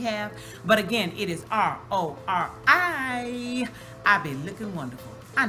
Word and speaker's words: RORI: Not Lori, I said RORI.